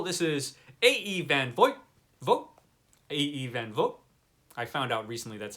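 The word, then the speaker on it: A. E. van Vogt: A.E. Van Vogt. I found out recently that's how you pronounce it.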